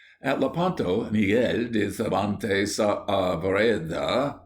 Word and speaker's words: Saavedra: At Lepanto, Miguel de Cervantes Saavedra, please pronounce the A's separately, was about 25 years of age and was lying below deck, sick of a fever.